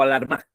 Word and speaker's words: alarma: Alarma, alarma o alarma.